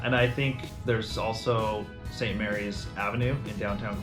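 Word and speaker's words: St. Maries: list all right so St Mary's St Mary's not we get a lot of St Marie St Marie I don't know why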